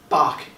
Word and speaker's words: Bach: pronounce the composer's names you don't have to say ba but Bach is okay and but then after